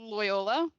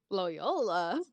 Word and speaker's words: Loyola: Loyola, Loyola. like the college.